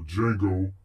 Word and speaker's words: Django: This track has happened to be named Django. Or Django, because the D is silent.